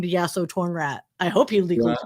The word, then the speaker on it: Yasotornrat: assumed it'd be that's how you pronounce it. But over time, people just kept saying Yaso Thornrat, and he's like, "Oh my god, I hate that.